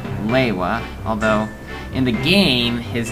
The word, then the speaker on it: Lewa: Some people will pronounce him Lua, some will pronounce him Lewa, although it was pronounced Lewa in the original animations, like on the disc.